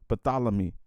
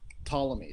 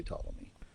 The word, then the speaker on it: Ptolemy: last name is pronounced ptolemy so we just oh we just don't yeah we don't pronounce the p and we just say ptolemy okay um is that